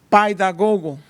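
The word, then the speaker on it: παιδαγωγός: se ponían bajo un paidagogo. Así es la palabra, como se pronuncia en el griego.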